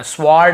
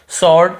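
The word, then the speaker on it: sword: डब्लू को नहीं पढ़ना स्वर्ड ऐसे नहीं पढ़ना व को नहीं पढ़ना केवल सर्ड ऐसे पढ़ना है हम क्लियर हो गया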